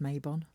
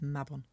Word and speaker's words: Mabon: Now, firstly, I just need to say that it's not pronounced Mabon, and I've heard a lot of people calling it Mabon. It isn't, it's Mabon. It's Welsh and it's pronounced that way.